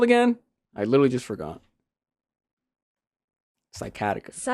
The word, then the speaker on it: sciatica: Sciatica.